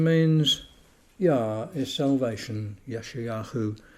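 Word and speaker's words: ישעיהו: Yeshayahu is the sort of the Hebrew pronunciation.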